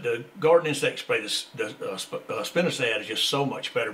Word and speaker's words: spinosad: just a minute ago now people pronounce that different all over the country I call it spinosad yeah it's really spelled spinosad and some people call it Spinosa but it is spinosad but that is that